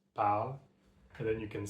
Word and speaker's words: parle: And when you actually use the verb in a sentence, you have to drop this I sound from the ER. Drop the I sound and it becomes parle.